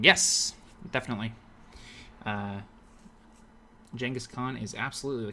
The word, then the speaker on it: Genghis Khan: Poke Guy says Genghis Khan is the correct pronunciation, and don't let anyone tell you wrong. Yes, definitely. Genghis Khan is absolutely the correct one.